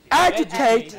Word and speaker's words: agitate: Okay, then words which are ending in ate. It is third syllable from the end that is to be stressed. Say complicate, complicate, complicate, complicate. Agitate.